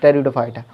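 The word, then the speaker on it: Pteridophyta: थैलोफाइटा English में ही पढ़ें, THALLOPHYT, थैलोफाइटा, ब्रायोफाइटा, टेरिडोफाइटा, पी से इसकी स्पेलिंग शुरू होती है, PTE, टेरिडोफाइटा।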